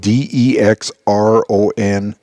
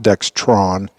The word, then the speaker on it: Dexron: And yes, it is spelled D-E-X-R-O-N. There's no T in there. It is not Dextron. It's Dexron automatic transmission fluid.